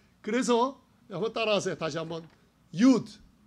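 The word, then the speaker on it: יוד: 요드 해보세요. 요드. 어떤 사람은 유드라고 읽어요. 근데 그냥 유드 하세요.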